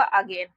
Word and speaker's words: again: AGAIN, यहाँ पर इसका उच्चारण होगा अगेन, तो यहाँ पर देखिए ए से लिखेंगे अ, और GAIN है, इसको हम लोग पढ़ेंगे गेन, तो ये पूरा शब्द बन गया अगेन।